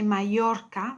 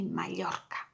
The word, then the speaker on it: Mallorca: So sometimes you may come across words in Spanish that have two L's, and that's pronounced le, Mallorca. Not to worry too much. If you say Mallorca, that's okay as well.